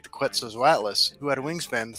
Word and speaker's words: Quetzalcoatlus: It's actually Quetzalcoatlus. I always mispronounce it. The bird is named after Quetzalcoatl, right? Right. Like Quetzalcoatl is my name in my Discord. right. So that's I always remember that's how you pronounce it, because when I was in like the 7th grade, my teacher said just remember ketchup bottle.